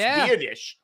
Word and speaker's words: Biadasz: I remember his name pronounced Biadasz.